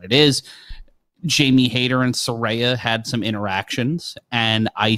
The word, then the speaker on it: Saraya: here comes Soraya formerly known as Paige yeah sarayam got the second biggest pop of the night and it'll be rare Soraya it's Soraya per her Twitter yeah she explained how to